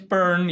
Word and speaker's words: Beirne: the right accent yeah it's burned yeah same as if you if you stick your hand in the fire burn if so yeah and